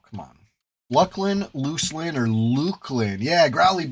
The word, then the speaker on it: Luclin: Unlike the pronunca pronunciation of the expansion after Velus which is of course Lucklin that's a fact that's not an opinion right it's not Luclin it's not what's the